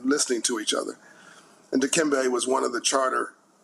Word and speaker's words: Dikembe: You mispronounced his middle name. It's Dikembe, love his family and community, Mutombo.